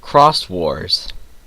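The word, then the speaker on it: Xros Wars: of digimon's name i it actually was pronounced cross wars and i also botched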